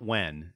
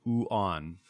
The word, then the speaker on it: yuan: It's not yuan. It's not wen. It's Chinese yuan.